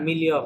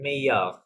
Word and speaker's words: meilleur: le milieu, sorry, le milieu ami নাকি না, মিলিয়ফ না, এটা ডাবল এর সাইলেন্ট, হ্যাঁ? মেইয়ফ, meilleur. মেইয়ফ, নট মিলিয়ফ।